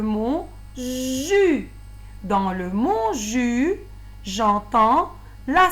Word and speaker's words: jus: Dans le mot jus, j'entends la syllabe jus au début. Jus. Et je prononce pas le S. C'est un son muet.